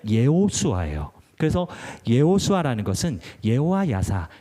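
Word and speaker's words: יהושע: 여호수아도 마찬가지 여호수아도 마찬가지로 기록된 대로 발음을 한다면은 예호슈아 그래서 예호슈아 것은 예호와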